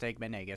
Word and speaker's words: Eggman Nega: It's pronounced Eggman Nega, so you said it right.